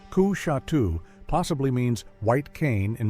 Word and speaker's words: Coushatta: Coushatta, pronounced Ku-Shatu, possibly means white cane in Muskogean.